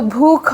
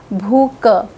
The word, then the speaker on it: भूख: तो भू ख की जगह उच्चारण हो गया भू क। ध्यान रखिए कि यह कोई मानक उच्चारण नहीं है। इन्हें आप सही उच्चारण नहीं कहेंगे।